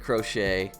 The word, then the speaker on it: Crochet: And finally, the cream of the crop, Garrett Crochet. I think it's pronounced Crochet.